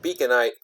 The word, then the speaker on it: Beaconite: And Beaconite rhymes with blight.